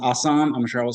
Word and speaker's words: Assam: And it's pronounced Assam.